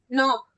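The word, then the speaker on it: knock: ओ सी के नोक के साइलेंट है के को नहीं पढ़ते जैसे डब्ल्यू आर आई T right में हम डब्ल्यू को नहीं पढ़ रहे थे वैसे के नॉक में के को नहीं पढ़ेंगे नक मतलब खटखटाना लड़के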